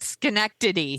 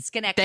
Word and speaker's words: Schenectady: Schenectady. Schenectady.